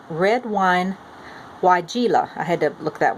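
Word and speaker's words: Weigela: is called red wine why geela I had to look that one to find out how to pronounce it even though it is EE IgE Ola you pronounce it red wine white ela and there's the reverse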